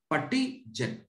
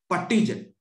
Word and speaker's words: PuTTYgen: PUTTY, PuttyGen. Many people, they call it as Putty. That is completely wrong pronunciation.